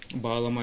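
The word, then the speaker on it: bağlama: Baglama is what usually people say baglama, just the G is silent.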